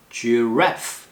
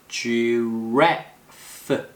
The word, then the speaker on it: giraffe: 그 다음에 giraffe. 기린이라는 뜻이죠? giraffe. 액센트 이음절. 그리고 F 발음 주의하세요.